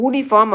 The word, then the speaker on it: uniform: ஏன் அப்படின்னா இந்த யூ அப்படின்ற இந்த ப்ரொனன்சியேஷன் நம்ம வந்து யூனிஃபார்ம் அப்படின்னு சொல்கிறது கிடையாது இல்லையா. யூனிஃபார்ம் அப்படின்னு சொல்லுவோம். எப்படி சொல்லுவோம். இந்த YU அப்படின்ற சவுண்டில் தான் அதை வந்து நம்ம உச்சரிக்கிறோம். ஊன்னு சொல்கிறது கிடையாது. இந்த யூ வந்து ய அப்படின்னு சொல்கிறோம் நம்ம. யூனிஃபார்ம் யூனிஃபார்ம் ய சவுண்டு யூனிஃபார்ம் அப்படின்னு சொல்கிறோம் இல்லையா.